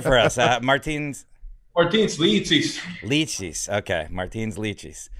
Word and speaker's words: Martins Licis: Martins Licis. Licis. Okay. Martins Licis. Licis. Yeah. Like the fruit.